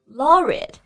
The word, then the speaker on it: laureate: Laureate, 这个单词的发音呢